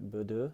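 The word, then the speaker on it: Bodø: noticed was how unfazed Bodo were. Pronouncing it wrong, by the way. It should be like BU, I think it is.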